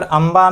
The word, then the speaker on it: अंबा: लेकिन जब हम अंबा बोलते हैं तो अंबा बोलने के दौरान अनुसर की जो मात्रा है उसका उच्चारण जो है म जैसा लगता है।